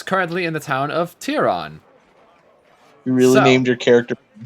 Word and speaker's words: Tehran: what's hira is it what's how's it spelled tyron tyron yeah tiron that's how i remember it being spelled but i might be misremembering oh it's tehran is how it's pronounced it